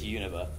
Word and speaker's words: Unova: But so Unova, or Unova, if you say it weird or right, I don't know how to say it. It's Unova.